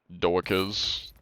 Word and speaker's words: Doakes: Doakes. I think, I don't know how else to say that. Dokes? Dokes. Oh, it's pronounced Dokes, gotcha.